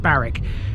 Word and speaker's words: Barwick: where we are today despite its spelling of barwick it's pronounced barrack we begin our trip